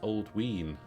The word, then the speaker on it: Alduin: a good book actually Alduin is pronounced old wean old ween donisk is durnish and